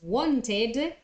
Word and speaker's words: wanted: Eid to that so want instead of saying it as want becomes wanted and need instead of saying